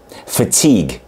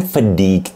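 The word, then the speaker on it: fatigue: gibi okunuyor Hayır okunmuyor mesela yorgun kelimesi fatig ok f a t i g u e f a t i g u e neden fik değil Neden hiçbir amerikalının fik dediğini duyamam Çünkü t'yi a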